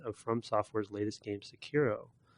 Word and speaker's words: Sekiro: From Software's latest game, Sekiro. Sekiro? I think that's how you say it. Sekiro, right.